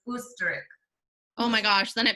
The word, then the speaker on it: Österreich: You pronounce it like a oos. Okay, so like ostrich, which is Austria in German, they have an O with the 2 dots, so it's Österreich.